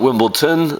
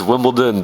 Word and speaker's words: Wimbledon: Okay, up next we have Wimbledon, not Wimbledon. That's not how it's said. It's Wimbledon, people, with a D.